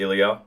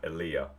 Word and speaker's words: Ilia: as well, is a lot of people will say Ilia. Yep, I've been doing that. Yeah. Yeah. So I will admit straight away, I went straight to the Ilia, but I'm glad I know how to say it properly now.